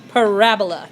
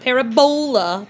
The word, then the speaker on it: parabola: be talking about parabolas see this word right here parabola not parabola parabola make sure that you're accepting the right syllable of the word and so we got